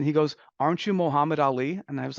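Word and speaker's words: Aly: a South Asian so my name is spelled a l y but it's pronounced Ali I still remember this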